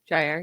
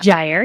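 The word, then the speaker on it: Jaire: You've got I'm going to say his name wrong. Jr. Alexander. Jier. Yeah. Gier.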